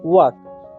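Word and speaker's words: walk: हम क्या पढ़ते हैं वक क्या पढ़ते हैं वक वाल एल जो हमारा यहां पर होता है साइलेंट होता है इसे हम पढ़ते हैं वक क्या पढ़ते हैं वाक पढ़ते हैं वाक का जो हिंदी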